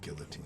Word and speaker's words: guillotine: I mean, I just know how it's pronounced. Anyway, go on. Guillotine.